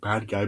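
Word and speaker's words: Badguy: agency he named Dominic but it's like spelled bad guy but he says it's pronounced bad G and then then a lot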